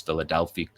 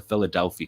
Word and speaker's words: Philadelphi: an Israeli operation name um it's obviously often mispronounced as Philadelphia Philadelphia Corridor but it's the Philadelphia Corridor um and you can see from the